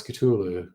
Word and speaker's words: Cthulhu: okay yeah good point no correct way to pronounce Cthulhu whenever Lovecraft was asked to answer differently and if a certain way is the correct way to ask he always answer yes um it was meant